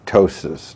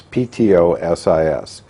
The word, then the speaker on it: ptosis: use the Latin word tosis now the p is silent so it's PTO sis you would if you